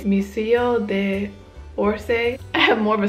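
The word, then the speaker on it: Musée d'Orsay: say it because I know I'm going to pronounce it wrong it's missio de orse I have more of a Spanish accent than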